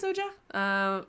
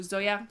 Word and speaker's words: Zoja: Hi, Zoja. Or Zoya, sorry. Old habits are gonna die hard. So Zoya corrected me on the pronunciation of her name very politely.